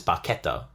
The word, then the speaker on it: barchetta: in Italian like the way that you would pronounce that word is baketo yeah um which actually translates to small boat which I thought was really fun um so that was my fun fact um yeah barketta translates to small boat and apparently you can